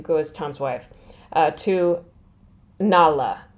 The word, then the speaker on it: Nara: as Tom's wife to Nala what's spelled like Nara so their ours are L's here and we saw a